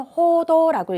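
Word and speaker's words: 報道: 그 다음에 밑줄이, 자, 보도는 호도라고 읽죠.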